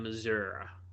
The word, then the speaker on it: Missouri: Edge rusher out of Missour h that's how you have to say Missouri in the United States you have to say Missour it's almost like one word there's no syllables in Missour Missour you didn't have